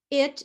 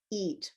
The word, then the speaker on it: it: So, it is a pink word and so is flamingo and it's not eat, which is a green word.